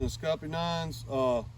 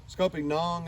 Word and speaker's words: scuppernong: Hey, speaking of free things, along with our muscadines and the scuppernines, scuppernong, I think is the actual pronunciation of it.